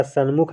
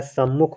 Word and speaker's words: सम्मुख: देखिए सन्मुख में आपका सन्मुख नहीं होता है सम्मुख होता है जहां पर ना दिया गया है वह आपका क्या है गलत है ना सम्मुख होता है सम्मुख सही होता है सन्मुख कुछ लोग उच्चारण में सन्मुख कहते हैं अब देखिए साम्राज्य